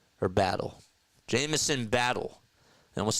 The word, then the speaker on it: Battle: he's had himself a very good game Jameson battson or battle Jameson battle almost said battle sin it's not how you pronounce it that looks like the Kawai shot